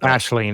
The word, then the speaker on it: Aisling: Ashling is generally how it's said Okay. in America. Ashling.